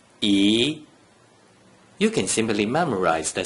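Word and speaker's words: 一: When there is only a single digit 1 without any other digits inside the first three green circles, the digit 1 is pronounced E.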